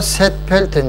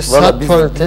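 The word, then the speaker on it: St. Pölten: Viyanalar Serpölten diyor. Biz de Serpölten diyoruz.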